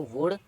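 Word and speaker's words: would: L silent हो गया तो इसको नहीं पढ़ सकते, तो इसको पढ़ेंगे कुड। अब इसको वुड, और इसको, अब इधर एफ से पहले आया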